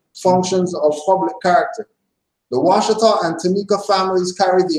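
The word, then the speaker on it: Ouachita: They also changed the spelling of Washita to Washita, O-U-A-C-H-I-T-A, a European misnomer that retained the pronunciation of the original name.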